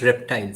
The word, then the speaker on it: RPTL: are he and him it's pronounced reptile sorry reptile of course